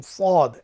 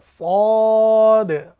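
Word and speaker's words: صاد: উচ্চারিত হলেও আপনারা দেখছেন এই সদ হরফটি উচ্চারণ করবার সময় অবশ্যই আমরা যেন মোটা করে উচ্চারণ করি এবং শীষ দিই। আপনারা আমার সঙ্গে পড়ুন, সদ সদ, স সুই সো, স সুই সো, আবার সদ, স সুই সো।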